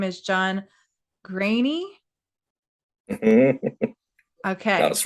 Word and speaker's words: Greaney: This is name day because, as you will see, I am interviewing John Greaney.